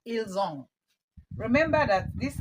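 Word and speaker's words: ils ont: female and of course this s is silent you pronounce that elong remember that this s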